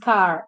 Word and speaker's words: Kerr: T Kerr is pronounced car.